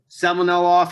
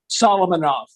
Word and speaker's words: Solomonov: I can never pronounce his name, of the Russian-Israeli chef, Michael Semen. Say it for me. Oh, Russian. Semenov. He has a restaurant in Philadelphia. Solomonov.